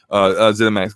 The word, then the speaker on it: ZeniMax: ZeniMax Games is, I say it right, ZeniMax Media.